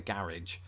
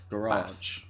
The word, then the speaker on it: garage: the car in the garage Americans do what Southerners and England do with the word bath garage they extend the a garage it's a mouthful